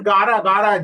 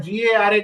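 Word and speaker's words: गारा: That's Gara, G-A-R-A, Gara. Gara. Acha, what is the meaning of this Gara? Gara means hailstones in Marathi. Okay, Gara. Extremely sorry, I was pronouncing it wrong.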